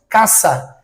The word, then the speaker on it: casa: Então, em espanhol nós não falamos casa, nós falamos caça. O som do s é um som de cidilha, tá? Então, casa em português, casa em italiano, porém em espanhol caça.